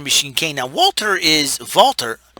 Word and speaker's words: WALTER: kane now walter is valtter i say valtter because he's german he knows from austria